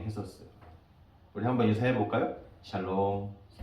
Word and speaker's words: 샬롬: 샬롬. 발음을 잘 하셔야 됩니다. 샬롬이에요.